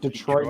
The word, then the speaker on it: Detroit: Like this is actually it's different pronunciations, right? Detroit versus Detroit.